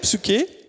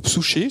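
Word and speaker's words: ψυχή: Et dans le grec, psyché, ou psouché, ça dépend comment on le prononce, l'âme, la vie, une personne, quiconque, esprit, cœur, un être.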